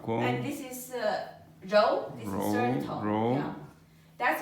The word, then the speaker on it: 柔: You pronounce it 柔. No. 柔. Look at my 日. Not 之. The tongue goes up.